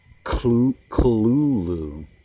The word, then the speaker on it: Cthulhu: to say it and that the closest way to a proper way was um clulu. But if you go back and read like what Lovecraft said about the proper pronunciation, so there kind of isn't one. It's cosmic horror, baby. These things have weird names that don't even come anywhere close to our ability to pronounce them.